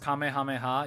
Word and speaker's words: Kamehameha: first king of Hawaii it's mostly pronounced Kamehameha even in Japanese but the word is Kamehameha the word is Kamehameha all right like I get that it's supposed to be different because it's Japanese the word it's based off of is a dude's name all right and I'm pronouncing the name correctly no matter what uh anyway um